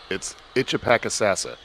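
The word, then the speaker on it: Itchepackesassa: Thank you for joining us on this one and going down the pronunciation rabbit hole. Oh, hey, before you leave, it's Itchapakasassa.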